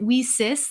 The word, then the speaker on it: WiCyS: our acronym w-i-c-y-s and we pronounce it we cis like we sisters because that's exactly what